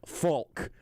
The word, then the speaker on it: Falk: I will say that I enunciate the L in words like Falk. Falk. I basically pronounce it as if it's F-A-L-K.